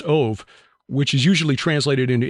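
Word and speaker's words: אוֹב: of the Hebrew word of O B but pronounced ove which is usually translated into English as Medium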